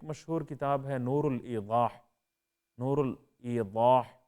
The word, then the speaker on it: نور الایضاح: کتاب ہے نور الایضاح، نور الایضاح، ضاد سے ہے یہ، اب اردو میں تلفظ کریں گے تو نور الایضاح بھی کہہ دیں گے، ٹھیک ہے، اس طرح اردو کا تلفظ بھی درست ہے۔ تو کتاب نور الایضاح